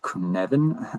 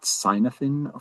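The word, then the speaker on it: Cynefin: framework that we can use which is the kunvan framework. Uh so this is pronounced kvvin not sinophin for uh it's a Welsh uh term meaning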